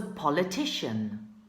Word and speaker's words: politician: we ready politician okay be careful with the pronunciation this letter makes the sound sh politician do you know